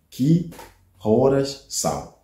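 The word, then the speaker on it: Que horas são: Ki horas são?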